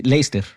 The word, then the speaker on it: Leicester: el dato inútil pero divertido del episodio pasado, pronunciamos un nombre de una ciudad incorrectamente ambos. Yo dije Sí, Leicester que se y han usted dijo burlado de Leicester. nosotros. Se dice ¿Es Leicester. Leicester? Sí. Sí, Leicester.